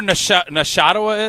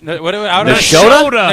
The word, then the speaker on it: Nashotah: Level, you know where Nashotah is? Nashotah?